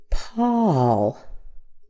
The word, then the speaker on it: Paul: And Paul. Paw. The A as in John and Sha. We have that same a sound here.